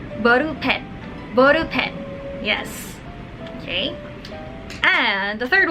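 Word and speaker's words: ボールペン: The second one is ball pen, or they say boru pen.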